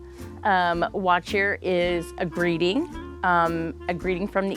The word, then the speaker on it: What Cheer: So we say watch here. Watch here is a greeting from the East Coast.